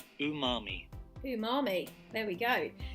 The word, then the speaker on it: umami: I was pronouncing Amami correctly this is the pronunciation ooh mommy who mommy there we go so umami is